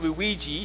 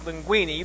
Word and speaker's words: Linguini: I've been calling him Luigi. His name is Linguini.